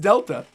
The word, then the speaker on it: Delta: And people were like, no, it's meant to symbolize Delta. It's pronounced Delta.